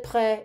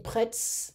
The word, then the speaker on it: prêts: Vous êtes prêts, messieurs? Are you ready, sirs? So it's a masculine plural form. I don't pronounce the S. I'm not saying prêts. No, prêt.